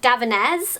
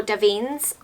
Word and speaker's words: Davines: This is by the company Davinés or Davínes... I don't know again... There's too many things I need to pronounce in this video. I think it's Davinés.